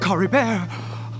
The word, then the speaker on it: Caribert: once and then I can remember how they pronounced it Cory bear oh thank goodness he's still okay don't we